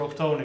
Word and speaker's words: Octone: Octane, but Hasbro only have the rights for Octone, and if you actually see the toy of him, he's actually called Octone there too, so it's not our call to just rename the character.